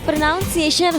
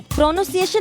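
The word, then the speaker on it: pronunciation: प्रोनाउंसिएशन होता है। प्रोनन्सिएशन नहीं होता।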